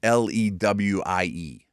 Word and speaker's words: Louis: I think it's pronounced the way you would pronounce Lewie.